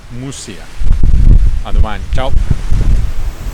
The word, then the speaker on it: Muxía: Non si dice Muxia, si dice Mussia.